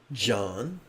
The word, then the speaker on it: Chan: Chan practice is about investigating our intrinsic awakened nature. So, Chan, sometimes pronounced John, is simply a transliteration of the Pali word jhana, or the Sanskrit word jnana.